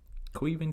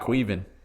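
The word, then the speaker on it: Caoimhín: Queven Kelleher? I think it's how you say it. It's Irish. It's Irish for Kevin. That's what I read. Wow. Queven.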